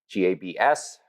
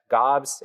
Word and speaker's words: Gabs: So yeah, Gobs, not Gabs, not Gobbs, even though that's how it's pronounced, just Gobs.